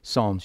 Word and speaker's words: Psalms: it you just say psalms you don't pronounce the p hm that seems strange